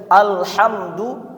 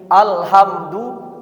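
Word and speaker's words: الْحَمْدُ: Karena satu huruf seperti tadi Alhamdu terganti jadi Alhamdu, itu artinya sudah beda.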